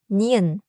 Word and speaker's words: 니은: Same tongue place again but the sound goes through the nose. Listen. n n Touch the same spot. And let it be nasal. In English, like the beginning of no. But keep it Korean and forward.